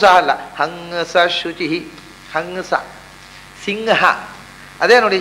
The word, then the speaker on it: ಹಂಸ: ಇದು ಕರೆಕ್ಟಾದ ಉಚ್ಚಾರ. ಸಗುಂಹಿತ ಅಲ್ಲ, ಸಂಹಿತ. ಅದರಲ್ಲೇ ಹಂಸ ಶುಚಿಷದ್ ವಸುರ್ ಅಂತರಿಕ್ಷತ್. ಹಗುಂಸ ಅಲ್ಲ, ಹಂಸ ಶುಚಿ, ಹಂಸ.